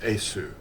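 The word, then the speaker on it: Iesu: The V is actually the Latin U. That's what it is. It's pronounced Esu.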